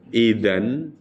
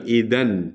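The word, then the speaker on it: إذن: sesudah ilmu datang kepadamu Idan maka atau jadi Idan artinya apa jadi jadi itu bacanya bukan Ida ya bu tapi Idan an kalau idza artinya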